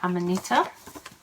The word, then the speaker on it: Amanita: The first one I have to show you is the Yuko shawl, which is designed by Amanita.